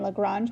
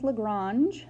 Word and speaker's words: Lagrange: Okay, so his name was Lagrange, or Lagrange. Lagrange is the English pronunciation. French would be Lagrange.